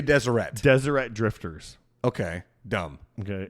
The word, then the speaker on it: Deseret: okay this I'm desert is spelled how Deseret it's going to be Deseret Deseret Drifters okay dumb